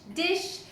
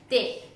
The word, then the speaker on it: dich: Another question that I get asked quite often is, why do you say ish, mish, dish rather than ich, mich, dich? What's up with the pronunciation?